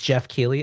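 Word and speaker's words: Geoff Keighley: June 7th guys so I can never pronounce his name but I think it's like Jeff Jeff it's Jeff key okay why okay you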